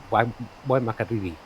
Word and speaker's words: Waimakariri: Oh, the Waimakariri. Yeah, that's the one. That's the kiddie. Yeah, Or if you were going to say it like the Maoris did, Waimakariri.